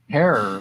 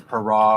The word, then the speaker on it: Herer: The proper way of saying Jack's name is Hair, like terror, not hurrah or hair or Jack Hair.